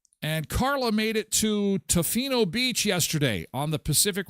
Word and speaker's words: Tofino: I mispronounce it. Sometimes they're called to Toflino. Tofino.